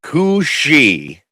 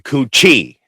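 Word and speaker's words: Cù Sìth: It's called the Cooi Yes. Pronounced C O O S H E E pron. That's the pronunciation. I've been calling it I've been calling it the coochie.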